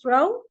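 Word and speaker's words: Frau: for FR so for wife also there is frow and for M if you are uh calling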